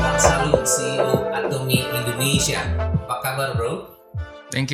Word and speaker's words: Atomy: Apa memang disebut bacanya Atomy? Ya betul. Atomy ya.